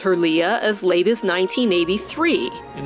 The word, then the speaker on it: Leia: Or should I say Princess Leia? Believe it or not, in the first Star Wars film, the princess's name is spoken only 3 times, and every time it's pronounced Leia.